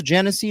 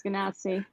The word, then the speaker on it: genasi: Also, as a pronouncer Genesee, no one ever told me. Pretty sure it's Ganassi.